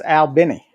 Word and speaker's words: Albany: hoped oh my God or or as the locals say stalagics foreign that's like um uh Albany Georgia right it's Al Benny Albany Georgia they have a cute little aquarium